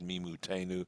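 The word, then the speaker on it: מִמּוּתֵנוּ: so it's me mootenu it has to be read me mootenu and not me mate as it's spelt there so here he goes uh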